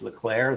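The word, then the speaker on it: Leclerc: to know is that it's leclaire the sea is silent oh god oh my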